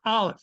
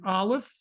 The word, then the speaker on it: Aleph: The letter Aleph. What does an Aleph sound like? Just have fun. We don't pronounce it at all. It's treated as a silent letter.